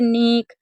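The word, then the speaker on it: knock: जैसे के एन अगर कभी भी आपको साथ में दिखे शुरू में तो हमेशा के को साइलेंट रखना है, यानी कि के को आपको नहीं पढ़ना है। जैसे नीक, नी, नीड, नाइफ, निट, नॉक।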